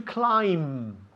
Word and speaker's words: climb: The third word, the third verb, should I say, is to climb. Climb. La B al final is muda. Climb. We don't say climb. Climb. To climb.